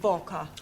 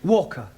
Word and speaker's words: Walker: Walker. Walker. What? W is pronounced W. Your employer's name is Walker.